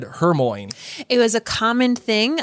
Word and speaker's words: Hermione: Melissa asks, did anyone else mispronounce Hermione until the movies? For some reason, she said Hermione.